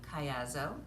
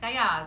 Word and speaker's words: Caiazzo: parents Lewis and elain Kayo yes that's how we say my name in the Americas if we were in Italy we'd say Cay so with the hand